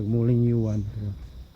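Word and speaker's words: Wulingyuan: Mao ko pronunciation Wuling Yu. Ang spelling mo Wuling Yuan. It should be Wuling Yuan.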